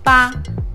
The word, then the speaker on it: 八: 八, 八, 八, 八 as in barbecue, barbecue, okay? B-A, that sound, barbecue.